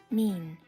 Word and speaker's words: mien: Mien. Mayan. A person's outward appearance. How do you pronounce that? Mean. Mean. Mean. Mean. Mean. Like demeanor.